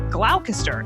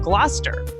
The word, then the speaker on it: Gloucester: where Shakespeare was writing, I often mispronounced some of the words that you find in the plays. Like originally, I said Glalcaster instead of Gloucester.